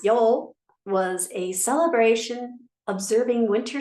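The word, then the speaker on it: Yule: darkness and the return to light Yu or pronounced Yol was a celebration observing winter solstice and The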